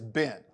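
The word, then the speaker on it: בן: face but son in in hebrew son is been been so when when you speak in hebrew and you hear them say ben ben elohim been adam ben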